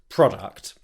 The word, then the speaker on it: product: pronunciation of the word product. Here's what you need to do. The key is to start by making the second syllable nice and easy. Arct, arct, arct.